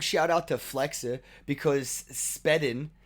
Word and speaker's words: SPEDN: And big shout out to Flexa because Spedden, SPEDN. It's like spend, but spelled like hodl because they're just trendy.